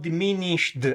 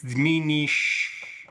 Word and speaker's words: diminished: Okay, whenever we talk about diminished, and by the way, I know that I'm Italian and I mispronounce this and I say diminish. But of course it's diminished.